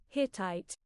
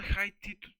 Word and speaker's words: Hittite: How do you pronounce that shit, bro? Hittite. Hittite. Like Hittite.